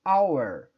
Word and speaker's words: hour: para você ver ch agora veja bem our é pronuncio eu não falo salvar eu digo our então eu vou usar